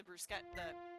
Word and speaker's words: bruschetta: I warmed them up according to the package and added the bruschetta. I'm mispronouncing this because I never hear this spoken out loud, and I can't remember. Bruschetta? Bruschetta? Bruschetta, I think. It is bruschetta.